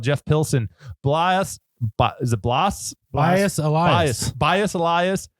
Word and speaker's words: Blas: son son yes and it's not blus it's it's Blas or Blas Blas elas